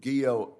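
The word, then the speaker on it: Guillot: General Guillo, I note that your name rhymes with hero. Is that right? Yes, Senator, it does.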